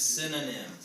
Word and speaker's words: synonym: will pronounce it differently but just thank sin Oh nim so sin Oh nin sin own em synonym so when I say quickly it actually sounds like sin uh that's how I said